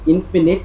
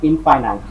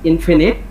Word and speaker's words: infinite: this word, the pronunciation of this word is infinite, not infinite. The correct pronunciation is infinite.